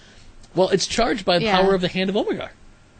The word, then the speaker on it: Omega: Well, it's charged by the power of the Hand of Omegar. Omega or Omegar? Omega. I think is how they say it.